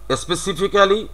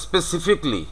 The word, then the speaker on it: specifically: স্পেসিফিক্যালি, তাহলে ইট ইজ স্পেসিফিকলি।